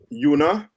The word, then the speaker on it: unipolarity: Una, like UNA. Put it up on the screen. All right. So like I said, it's spelled UNI, but it's pronounced una, like unilateral.